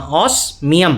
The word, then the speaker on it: Osmium: हाँ, ऑस्मियम. Osmium. न कि म. Ma. म मतलब Mium. ऑस्मियम. Yes. म आना चाहिए ना, आपने एन लगाया है वहाँ पे. ऑस्मियम.